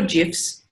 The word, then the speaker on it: GIF: techniques digital storytelling techniques what does it look like to use gifts or gifs however you want to pronounce it I kind of alternate between Jews and gifs every now and again depending on what I'm thinking through but these are really